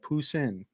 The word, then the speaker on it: Poussin: I went to Google, typed in how do you pronounce, and I typed in that word, and it said Poussin.